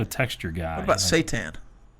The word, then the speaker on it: seitan: What about seitan? Like the Lucifer? No, not Satan. No. That's what it sounded like. Seitan.